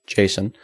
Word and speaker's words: JSON: about JavaScript object notation JS o n pronounced Jason uh looks like you